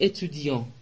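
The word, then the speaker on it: étudiant: ما اینه ژ سوی اتودی ژوی اتودی توجه کنید که ت آخر خونده نمیشه و آم به صورت تو دماغ یعنی آ آن تلفظ میشه تو اتودی تو اتودی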